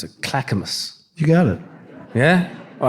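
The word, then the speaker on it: Clackamas: I went out to I'm going to mispronounce it. Clackamus.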